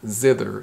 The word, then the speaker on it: zither: it's a zither though it's a hard th we say the zither not zither but zither and the zither is